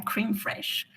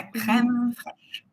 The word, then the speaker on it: crème fraîche: Et là, j'ai entendu la prononcé à l'anglaise. La creme fresh. C'est la crème frche.